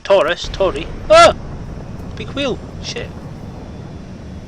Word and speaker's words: Taurus: Tory, yeah, like Taurus, Tory.